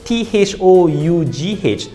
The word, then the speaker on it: though: let's take the word t-h-o-u-g-h though you still have the g-h now you're not pronouncing anymore english is one of